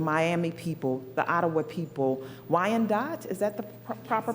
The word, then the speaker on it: Wyandotte: Lenape people, the Miami people, the Ottawa people, Wyandotte, is that the proper pronunciation?